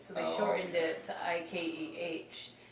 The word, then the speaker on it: Ike: So they shortened it to Ikeh. But still people were mispronouncing it with the H, so they took the H off. So it's Ike now.